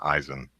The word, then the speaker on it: Eisen: I I know uh E.I that uh the the phonic it makes three sounds uh none of them are I in American English no that's just how it's pronounced in German Eisen all right it means